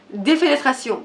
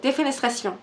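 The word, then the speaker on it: défenestration: Un dramatique avec une prononciation très française. C'est défénétration. Défénestration.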